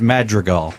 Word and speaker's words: Madrigal: I would think it's Madrigal. Madrigal. That's it. That's what I said. I said it Hal right Madrigal. the first time. Hal Madrigal. He's fucking one of the Not funniest. Madrigal.